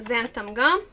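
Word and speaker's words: xanthan: nivel de goma xantana en inglés se pronuncia sean tanga les muestro aquí la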